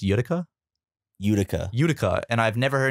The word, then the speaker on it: Utica: Is that pronounced Utica? Utica.